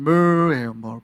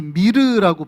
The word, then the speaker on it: myrrh: 영어로 하면은 myrrh예요. 발음이 되게, 이게 MYRRH거든요. 스펠링은 MYR. 그러니까 마치 미르라고 발음해야 될 것 같죠. 근데 영어로 발음하면 myrrh입니다. myrrh. 굉장히 발음 특이한데 몰약이에요.